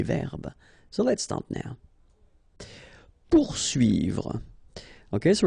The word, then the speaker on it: poursuivre: Poursuivre. Okay, so remember that when you get this combination of O and U, you will get the sound OU. Okay, so pour, and then U and I here, UI.